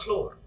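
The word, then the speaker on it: flour: आटा छानो सीव द फ्लोर इसको फ्रेंड फ्लोर ही पढ़ना है प्रोनंसिएशन वही एफ L double O आर फ्लोर मतलब फर्स वाला होता है लेकिन स्पेलिंग में डिफरेंस होता है वो भी फ्लोर है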